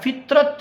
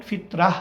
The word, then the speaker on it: ফিতরাহ: আলামীনের পক্ষ থেকে একটা ফিতরাত নিয়ে জন্মগ্রহণ করে। ফিতরাত বলেন ফিতরাহ বলেন কোন অসুবিধা নেই। আরবিতে দুইভাবেই বলা যায়। ফিতরাহ অথবা ফিতরাত। এটা শব্দের উচ্চারণগত বিষয় আর কিছু না।